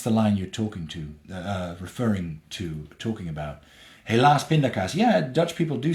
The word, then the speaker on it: helaas pindakaas: Helaas pindakaas. Yeah, Dutch people do say that. And it's got nothing to do necessarily with the inconvenience. It's just that pindakaas rhymes with helaas.